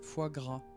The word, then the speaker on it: foie gras: Oh, how do you pronounce it? Foie gras.